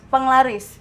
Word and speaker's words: Penglaris: Wah, ini I mengunjungi aku bacanya Mas Penglaris. Bacanya penglaris. Tulisannya pengalar. Keren banget nih.